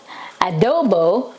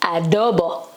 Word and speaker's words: adobo: It's not adobo, it's adobo. It's the same thing though, but it is pronounced as adobo.